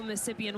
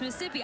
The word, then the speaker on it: Mississippi: our lovely Magnolia State the final ISS is silent that is what I